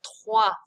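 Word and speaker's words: trois: example the oh i when you see it together it's not oi it's found in words like which is the number three foie so practice recognizing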